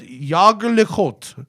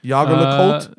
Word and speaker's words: Jaeger-LeCoultre: Yager le Côte? GG is is the most Americanized pronunciation of the second part. Is it like Colt? C-O-L-T? Yeah. Yeah. Yager le Côte. If you're American, Jaeger LeCoultre.